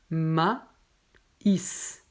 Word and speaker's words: maïs: y donc cette lettre mais c'est très rare donc ici on a le mot donc on ne prononce pas maïs non prononce ma is sépare les deux voyelles donc ma is ici